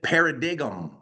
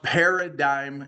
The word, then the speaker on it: paradigm: Now, when you look at the word paradigm, it looks like you would pronounce it paradigm, but it's pronounced paradigm shift.